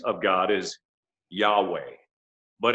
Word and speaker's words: Yahweh: so brilliant in that you and i can actually pronounce yahweh by breathing and i don't know